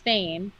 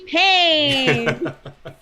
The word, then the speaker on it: Fain: my last name was fame and the announcer was trying to ask me like how do you say your last name i was like oh it rhymes with pain and so whenever they